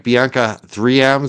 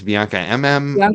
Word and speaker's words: BiancaMMM: Bianca 3 Bianca MM That's what it is.